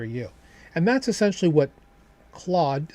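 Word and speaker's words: Clawd: And that's essentially what Claude CL AWD was going to do. Now, of course, seasoned desists, right? Not spelled the same, pronounced the same, anthropic, was going to do their own thing.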